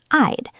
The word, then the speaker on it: I'd: Yes, it sounds like the word I plus a soft D. I'd.